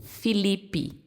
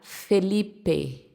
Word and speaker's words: Felipe: A gente pronuncia em português Felipe, como se todas fosse fossem a letra I. Mas no espanhol a gente vai pronunciar Felipe. Felipe. Então, de fato, o e vai ter o som de e o i vai ter o seu sonzinho de i.